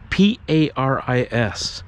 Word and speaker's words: Paris: And she said, yeah, and my name, my name's Perry, but you pronounce it a little bit wrong. It's Perry. P-A-R-I-S. And this is true. Her name is Paris.